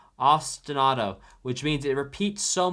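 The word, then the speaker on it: ostinato: my spelling there now Austinado if you want to say it say it like the city Austin and then like the name auto or like the car auto ostanado which means it repeats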